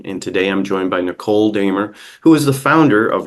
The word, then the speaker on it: Nichol Dehmer: host John Channon and today I'm joined by Nicole damer who is the founder of yard homes Minnesota